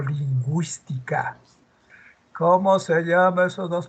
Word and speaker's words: lingüística: los dos puntitos acá dice lingüística pero se pronunció y digo lingüística Cómo se llama esos